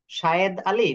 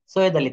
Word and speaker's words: সৈয়দ আলী: শায়েদ আলী নাকি সৈয়দ আলী, উচ্চারণ কোনটা হবে? সৈয়দ আলী, thank you.